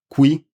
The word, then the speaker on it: qui: The relative pronoun is spelled with a C, and it is pronounced cui. I'll say the difference, I'll say both of them again for the difference. Qui, cui.